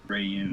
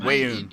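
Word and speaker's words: Weyoun: Rayun. Well, Wayun.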